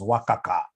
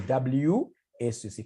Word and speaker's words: WACC: There is somebody who pronounced this as Wakaka. No, it's supposed to be WACC.